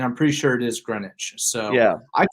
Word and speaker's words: Greenwich: uh wondering I was like how do you pronounce where he's from and I'm pretty sure it is Greenwich so yeah I called it greenwick and you know there's green witch but I